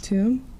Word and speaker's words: Tuam: I don't know how to pronounce it. Tuam? Yes. Tuam?